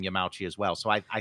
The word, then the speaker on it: Yamauchi: not great but um we're using the pronunciation Yami uh one looking at these might uh logically believe it should be pronounced Yamauchi uh but it does appear that uh people in Nintendo uh including American Staff uh addressed him as yamachi and I did find